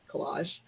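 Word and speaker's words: Kolaj: That's something that was started by Collage Magazine, which is spelled K-O-L-A-J, Collage.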